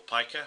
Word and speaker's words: pica: of eating non-food objects, sometimes referred to as pica or pica, however you prefer to pronounce it.